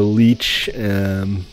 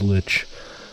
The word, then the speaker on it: lich: The leech, lich, I think the proper pronunciation is lich, and Naga heads from Twilight Forest, people.